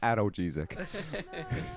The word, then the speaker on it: analgesic: It's pronounced analgesic.